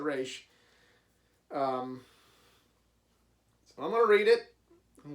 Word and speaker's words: Ra's al Ghul: Google Ra's al Ghul depends on depends on what incarnation on how you pronounce it I think they said it was a race but I might be mistaken but the creator said race I'm gonna read it